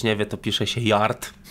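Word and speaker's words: Jart: Jak ktoś nie wie, to pisze się Yard. Żart. Żart. Żart. Ktoś nawet kiedyś z naszych znajomych powiedział, że kupił deskę Żarta. Zastanawiałem się, o co chodzi. Nie, bo J w hiszpańskim jest H. Tak.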